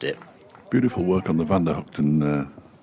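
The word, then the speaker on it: van der Gugten: Beautiful work on the Vander Hooton uh pronunciation by the way. I don't know. It's just what I've like for a bit. I like it. Van Guten is it's sometimes said.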